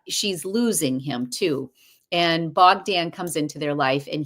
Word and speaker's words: Bogdan: I loved the storyline with Stephen and Bogdan. I keep saying his name wrong. um, hold on, Bogdan.